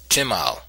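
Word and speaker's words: شمال: Arab Caravan trade an Arabic term is Simla plural simal produced pronounced chimal meaning a garment in which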